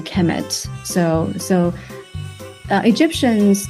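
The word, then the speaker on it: Kemet: uh it will be the noun will be pronounced a chemet so so so uh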